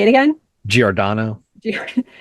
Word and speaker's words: Giordano: Giordano. All right, we'll go with that. Come on, I'm Italian. Giordano. I have to be able to say that. Giordano.